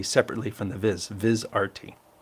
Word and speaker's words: VizRT: and it's proun pronounced viz RT yes that is why I capitalize the r and the T to remind me to say viz RT but when they make